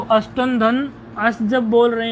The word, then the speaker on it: अष्टनो: अष्टनो अविभक्तौ, अष्टन अविभक्तौ, ये नकार में अकार है। अष्टनो, अकार का उच्चारण थोड़ा कर लेंगे।